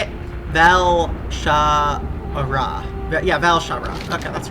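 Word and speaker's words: Val'sharah: Valshara.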